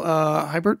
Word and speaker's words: Huibert: It's pronounced Huibert.